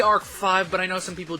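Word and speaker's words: ARC-V: next up is yugioh arc 5 or arc v however you want to pronounce eights but supposed to be arc five but I know some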